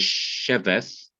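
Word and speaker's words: שֶׁבֶת: Because sit itself is accented in the first syllable, the word is sheveth, and the accent is on the she.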